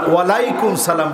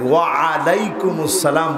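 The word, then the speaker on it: وعليكم السلام: আমি অত্যন্ত আনন্দিত, কারণ আপনারা ওয়ালাইকুম সালাম বলেন নাই, ওয়া আলাইকুমুস সালাম বলছেন। এই যে একটু ওয়া আইনের উচ্চারণটা যথাযথ আপনারা উচ্চারণ করেছেন, এজন্য আল্লাহ পাক খুশি হয়েছে।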